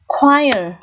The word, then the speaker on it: choir: Thứ hai, choir. Choir có nghĩa là dàn đồng ca, dàn hợp xướng. Và CH ở đây được phát âm là đây, chữ K và W như thế này.